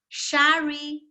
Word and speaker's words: Sherrie: practice my English name sherry no sorry no my name is so difficult but then I found a brilliant idea to solve this problem I changed my name but I didn't change the pronunciation I change it from